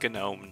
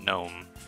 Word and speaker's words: GNOME: Like, if I wanted to put uh Gnome on this, and yes, it's pronounced Gnome, not Gnome.